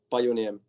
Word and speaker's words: Pajuniemi: Okay, how do you pronounce it? Pajuniemi.